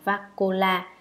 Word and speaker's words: Vakula: Ngài Bakola, Ấn Độ đọc là Vakula, chữ Hán là Thiện Dung, ngài là bậc có thọ mệnh sống lâu đệ nhất.